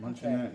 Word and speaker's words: Luncheonette: Is that how you pronounce Yep. Luncheonette? Luncheonette, Okay.